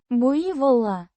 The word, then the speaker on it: буйвола: Буйвола. With stress on the second syllable.